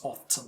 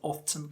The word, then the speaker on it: often: often by the way often is one of those English words that can be pronounced in two ways there are many words